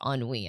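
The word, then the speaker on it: ennui: also a word cuz it is a French word it's not spelled how it's pronounced at all like not even a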